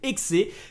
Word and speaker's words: Hexe: Assassin's Creed x enfin il faut prononcer ex qui lui sera effectivement